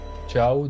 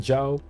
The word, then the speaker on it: Jiao: Ciao d'ailleurs. J'ai tendance à le prononcer ciao. Ciao. C'est avec le X à la place du J alors c'est Jiao.